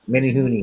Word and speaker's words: Menehune: it's the Menehune. Is that how you say it? Yep, mini hoonie is how they say it.